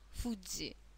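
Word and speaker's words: 富士: Аа пока обращаем внимание на то как произносятся наши слоги Да фузи Сан фузи Сан фузи яма Фудзи перед нами самая высокая гора Японии дальше у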